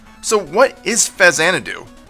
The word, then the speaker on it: Faxanadu: I always used to pronounce it Faxanadu, but as I grew older, I'm pretty sure it's called Faxanadu. Why? Well, it's supposed to be a combination of an old Japanese PC RPG series known as Xanadu and Famicom, so Faxanadu.